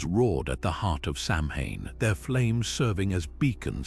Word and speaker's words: Samhain: Samhain, pronounced Samhain, wasn't just a celebration, it was a night of profound danger and possibility.